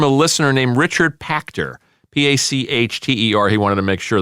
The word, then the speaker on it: Pachter: Pachter. He wanted to make sure that I pronounced his name correctly.